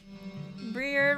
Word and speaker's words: Briar: Briar rhymes with Friar.